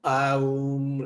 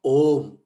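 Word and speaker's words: ॐ: Now, some people, pronounce it AUM, like Buddhists do. No. Omkara, Shanti is very important. It's Om.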